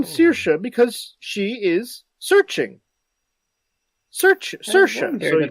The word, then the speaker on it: Saoirse: Saoirse, so you pronounce it Saoirse.